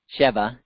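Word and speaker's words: שבע: seven there's that word Shiva Sheva is the way you'd pronounce the word seven actually Sheva shabooey is what's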